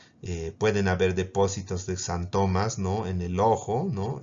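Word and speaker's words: xantomas: Los santomas, ¿no?, que se escribe con X.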